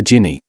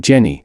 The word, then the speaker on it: Ginny: had one she said we could call her Ginny I wasn't a fan so to dissuade her I insisted on pronouncing it Jenny and telling her I couldn't hear a difference